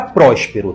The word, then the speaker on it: Próspero: acento gráfico por exemplo a palavra Próspero tem três sílabas e a mais forte é prós Próspero como a sílaba tônica não é a última nem a penúltima mas a anti penúltima Esta palavra é proparoxítona